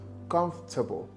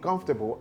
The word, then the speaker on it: comfortable: Most Nigerians pronounce it as comfortable, comfortable, and this word, you hear it often as vegetable, vegetable. No, this right here is pronounced as comfortable, comfortable. So the for in comfortable has been reduced, leading to pronouncing the word as comfortable.